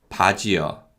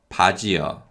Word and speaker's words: 바지요: 바지요, 바지요. 신발이요, 신발이요. So as you can hear, yo is pronounced closer to the sound of 여 than actually yo.